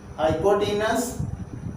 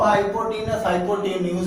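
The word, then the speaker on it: hypotenuse: सी फॉर cos, base upon हाइपोटेनस, और टी फॉर टाइन, perpendicular upon base. अब इसको हाइपोटेन्यूज भी बोल सकते हो, जैसा अपना प्रोनाउंसिएशन हो।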